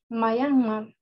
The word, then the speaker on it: Myanmar: Oh, ¿Y cómo se pronuncia? Myanmar.